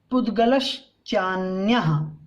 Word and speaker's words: पुद्गलश्चान्य: जीवोन्यः पुद्गलश्चान्यः, चान actually यहाँ विसर्ग था लेकिन यहाँ स्वर आ गया, इसके कारण से विसर्ग का लोप हुआ है, ठीक है। तो यहाँ हम जब लिखेंगे अर्थ तो विसर्ग लगाएंगे, अभी नहीं लगाएंगे। पुद्गलश्चान्य, तो बिना विसर्ग के ही उच्चारण करना है हमें यहाँ, ठीक है।